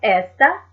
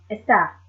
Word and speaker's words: está: as you can tell, has the acute accent mark as well, just to give that accent on that particular syllable. Ella está. Not esta, but está.